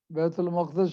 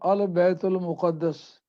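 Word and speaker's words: بيت المقدس: This word can be pronunciated as Maqdas, Baitul Maqdis Sharif, or Al Baitul Muqaddas.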